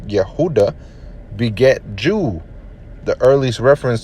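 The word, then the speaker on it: יהודה: the kingdom's hebrew name yehudah judah in english pronounce yehudah beget jew the earliest reference to the kingdom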